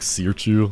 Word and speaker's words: Sirchu: Should I tell her name is pronounced like Sirchu, like that?